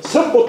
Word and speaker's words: 선보: 개 할때로 호단 자이지만 지명일 때는 선입니다 선 그래서 선보 수행을 지낸 사람이 복입니다